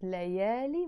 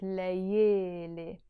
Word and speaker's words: ليالي: But in Lebanese Arabic, we don't pronounce it layali, we pronounce it layele.